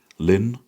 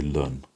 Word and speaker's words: ln: And that's pronounced, some people say lin, and some people say learn, right? Whatever you prefer. I'm used to saying learn.